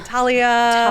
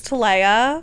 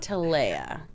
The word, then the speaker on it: Talea: confused with Tia or Talia Talia yes yes I'll set the record it is TOA TOA I like to say like ladies to like ladies um